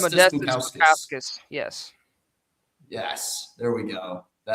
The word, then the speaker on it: Modestas Bukauskas: I think it's Modestas Bukauskas.